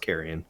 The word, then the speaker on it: Carrion: heard of this um carrion carry on i don't know how to pronounce it i have not heard of this i think it's pronounced carrion carrion okay so devolver digital